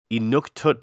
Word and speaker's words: Inuktitut: Sorry, let me pronounce that correctly. Inuktitut language, which is the first Canadian native language to ever be added to Google Translate.